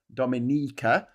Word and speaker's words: Dominica: It's actually pronounced Dominica with the a with the emphasis on the second I.